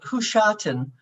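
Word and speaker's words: Husiatyn: my parents were from a border town called hushatan h-u-s-i-a-t-y-n sometimes in modern ukrainian it's spelled g-u-s-i-a-t-y-n or i-n and i've done considerable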